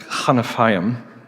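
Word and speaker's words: כְּנָפַיִם: But that word rays is this uh Hebrew word pronounced kanafam which is really fun to say which literally means wings or edges.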